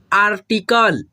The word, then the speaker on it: आर्टिकल: ठीक है, और ट से पहले ही आधा र का उच्चारण हम लोग करते हैं।